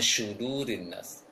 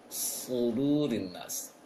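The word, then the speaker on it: صدور الناس: shad yang ditebalkan, dan jangan dibaca seperti syu, jangan syudurin nas. Seperti surah Al-Fatihah yang sering terpraktekkan oleh sebagian kaum muslimin, ihdinas syira, dibaca seperti shin titik tiga. Itu keliru. Yang tepat adalah seperti shad yang ditebalkan.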